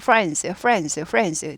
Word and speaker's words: friends: friends자 전고 friends. 드가 발음이 안 나는 건 아닌데 묻힌다고 했습니다. 그래서 friends.